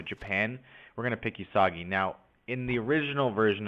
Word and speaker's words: Uesugi: So I'm going to pick Uesugi. That's how you pronounce it. Cool. If not, don't give a shit. No, I'm just kidding. But so I'm going to pick Uesugi, and my goal will be to form Japan.